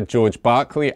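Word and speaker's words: George Berkeley: mean um the philosopher George Barkley after whom the city Berkeley is named because it's spelled the same only pronounced differently uh they just took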